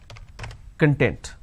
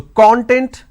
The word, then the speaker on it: content: as now there are first of all there are two syllables right all right now i can either pronounce this as k or no then t-e-n-t i can either pronounce this as content or i can pronounce